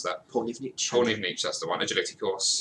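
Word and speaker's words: Pollnivneach: I actually have no idea how you pronounce that. Polnivich? Polnivich, that's the one.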